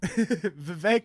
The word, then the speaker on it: Vivek: thing, you know, that Vivek like Cake Ramaswamy could do to be more personable to people is like pants somebody, or maybe Batwing.